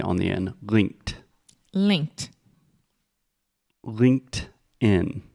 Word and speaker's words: LinkedIn: putting a t on the end linked linked Linked In Linked In yes technically I guess you could say linken but that's a little bit strange no okay